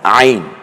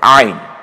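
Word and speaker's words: عين: জ পরের হরফের নাম আইন একটু গলায় চাপ দিয়ে বলতে হবে আইন আরেকবার বলুন আইন এটা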